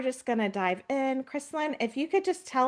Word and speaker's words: Krislyn: And Kristen, I didn't even like double check I'm pronouncing your name right.